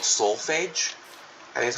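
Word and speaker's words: solfège: hold on sneeze excuse me um it's called soulage I me that's how you say it it's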